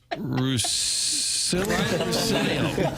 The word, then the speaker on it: Russillo: Russillo.